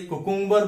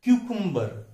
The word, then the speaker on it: cucumber: अगला शब्द देखिए CUCUMBER। हम काकड़ी जो खाने में सलाद में लेते हैं उसे हम रोज में गलती से कुकुम्बर बोलते हैं, लेकिन उसका सही उच्चारण क्या है? क्यूकुम्बर, क्यूकुम्बर। अगला शब्द है PLUMBER।